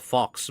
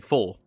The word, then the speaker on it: faux: Or when there's word like FAUX, it's actually in English, like in regular English, you call it fox, but in French, it's actually four.